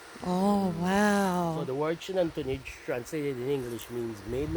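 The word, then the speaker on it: Xunantunich: Shunantunij. Surnan Shunan. Shunanternich. These Shunanternich rock ladies. So means maiden of the rock or maiden of the rock or a stone lady. Yeah. Now, the site of Shinantunij is believed to have been dated from about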